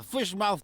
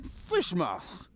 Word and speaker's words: Fishmouth: My name's William LQPW Watersworth and I'm an official representative of the Fishmouth Tourist Board. What can I do for you today, sir? He pronounced it fish mouth. Everybody else has been saying fishmouth.